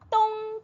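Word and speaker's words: 冬: 우리 겨울이라는 단어 겨울동네 겨울동 좀 세게 발음하시면 돼요 똥 티엔 똥 티엔네 이렇게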